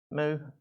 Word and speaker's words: mu: or you can say mu some people i can't tell you just have to make a personal decision if you'd rather sound like a cat or a cow but i call it new and it's spelled and